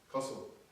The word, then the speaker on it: Qosil: Qosil, I was told, and correct my pronunciation. Am I saying it right? It means connected. It's a Kazakh word. But is it Qosil? Is it Qosil? How am I supposed to say it? Qosil.